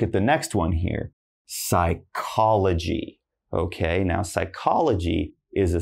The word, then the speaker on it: psychology: Again, not psychology, just psychology.